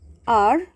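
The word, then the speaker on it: hour: with a silent letter h now see in our h is silent we pronounce it from o u r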